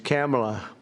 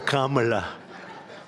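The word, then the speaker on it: Kamla: this because, you know, your first name is very similar to a first name that we have, but fortunately it's pronounced different. It's Kamala, as opposed to Kamala.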